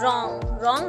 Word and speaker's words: wrong: इसे रीड करते हैं रॉन्ग। हम जब इसे रीड करेंगे तो हमारे पास W यहाँ पर साइलेंट हो जाता है।